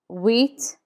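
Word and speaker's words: huit: CE seven set set eight is whe whe the H is never pronounced in French so we start with Wheats Wheats nine is n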